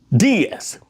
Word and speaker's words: diez: And number 10 is diez. D-I-E-Z. Diez. D-E-E-Z.